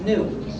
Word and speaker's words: GNU: in countless wordplays because according to the dictionary the g is silent and it's pronounced new so every time you